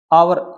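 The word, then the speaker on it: hour: आप आ ए hers आवर इसमें क्या भी एच एक साइलेंट लेटर है तो इसमें ध्वनि है वो ओवर इसमें ए आता है यहां पर एन आवर आएगा क्या आगा अभी एन आवर इसमें एच की साउंड नहीं आती है यह आप जरूर ध्यान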